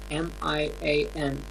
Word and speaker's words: Mian: But the way Mian, M-I-A-N, Mian.